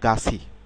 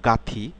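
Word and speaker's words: 같이: হবে যেমন খেয়াল করুন কাত কাত ইটা উচ্চারণ হবে গাছি গাচ্ছি গাছি অর্থাৎ এই থ এবং ই উচ্চারণ মিলিত হয়ে কি উচ্চারণ হবে সি গা সি গাছি গাছি খেয়াল করুন গা নট গাথি উচ্চারণ উচ্চারণ হবে গাছি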